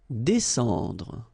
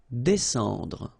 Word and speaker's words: descendre: Descendre. Well, even if you've got this combination of S and C here, you just pronounce it S. Descendre.